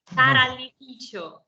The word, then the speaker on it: Tarallificio: Tarallificio Ester, is that how you say it? Not really. Tarallificio. Tarallificio. Tarallificio. Okay, we got it right.